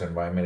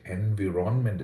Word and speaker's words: environment: Environment, four syllables. Okay, so this is environment. And the stress is here on Y.